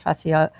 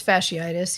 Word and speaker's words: fasciitis: like the the plantar fascio fascio is that how you're sorry i'm not saying it right i think it's fasciitis yeah it's fasciitis so so